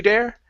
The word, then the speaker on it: their: So, uh, get a good th here instead of to their to their to their grandma's house.